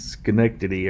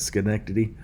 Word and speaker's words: Schenectady: I went here about 2 years ago, and I was asking dude up there, I was like, how do you say the name of this? And he's Schenectady, or I think that's how he said it, Schenectady.